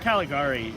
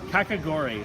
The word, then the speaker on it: kakigori: a bit is available all the time that Caligari the category frozen ice thing category kakigori sorry I mispronounced it fantastic value like it was the